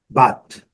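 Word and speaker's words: bought: Essas três letras não são pronunciadas, então a pronúncia é but, but, but.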